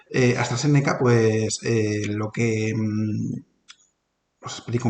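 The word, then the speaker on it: AstraZeneca: técnicas de habla con con s se pronuncia hasta séneca pues lo que os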